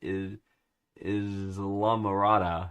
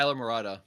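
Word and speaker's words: Islamorada: Is La Mirada? Is La Mirada? Am I pronouncing that right? Oh, Isla Morada.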